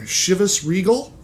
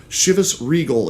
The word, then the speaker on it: Chivas Regal: Chivas Regal is actually, I believe, how it's supposed to be pronounced. But if you listen to people, if you get on the internet and look and listen, there is Chivas, there's Regal, there's Regal, any number of mispronunciations out there to the point where I'm not even for certain what is the correct one.